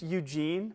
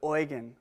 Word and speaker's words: Eugen: I mean, it's just Eugene, but oi-gen, that's how they say it--Eugen Bleuler.